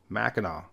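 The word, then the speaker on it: Mackinac: one on an island two different spellings but they're pronounced the same way they're both Mackinaw I figured I would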